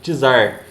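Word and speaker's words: czar: governante chamado de tizar apesar de se escrever com c tem a pronúncia de T né então tizar Eh Miséria da da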